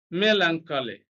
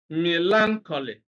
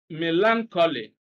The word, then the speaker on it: melancholy: you always hear people, the way you hear people pronounce this word is melancholy. Melancholy, stress here on the second syllable. But that's wrong, all right? The correct one is melancholy.